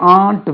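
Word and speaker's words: aren't: வி ஆர் waiting, we ஆர்ன்ட் waiting, RARENT. வி ஆர்ன்ட் waiting, இது அரண்ட் சொல்லக்கூடாது.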